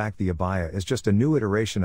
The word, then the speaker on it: abaya: Pronounced abaya, it is a long-sleeved, loose-fitting robe usually worn over other clothing by women in parts of the Middle East and Africa.